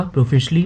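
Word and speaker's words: profusely: ये नाउन है और इसका प्रोनाउंसिएशन होगा प्रोफिशली, मतलब बहुत अधिक मात्रा में।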